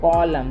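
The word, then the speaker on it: column: कॉलम देखो यहां पर एन साइलेंट हो गया।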